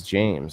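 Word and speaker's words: Jaymz: no candy in there it's pronounced same as James okay James okay I like that you guys see this j j a y m z James so those are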